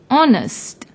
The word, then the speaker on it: honest: you see the word honest although it starts with H it is silent when we pronounce the word honest since the second letter